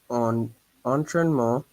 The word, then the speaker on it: un entraînement: En plus, ils avaient un entraînement. Okay, here I didn't hear the liaison. It's compulsory, with un, une, des, mes, ton, etc. Yeah? Un entraînement.